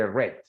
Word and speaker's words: read: in past se escribe igual, pero se lee red.